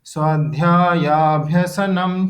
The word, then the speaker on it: स्वाध्यायाभ्यसनम: ठीक है, जब हम प्रोनाउंसिएशन करेंगे तो हम उसको ब्रेक नहीं करेंगे, स्वाध्यायाभ्यसनम चैव ऐसे बोल देंगे।